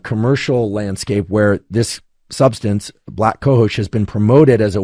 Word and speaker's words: black cohosh: moment, of something like black cohosh. I think that's the correct pronunciation. It's literally the word black and then COHOSH.